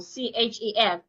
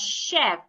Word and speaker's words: chef: So if I want to pronounce the first word, I will pronounce it as chef. The ch should be sounded like sh.